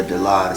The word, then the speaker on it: Dilaudid: Dilaudid. That's how you pronounce it? Yeah, Dilaudid.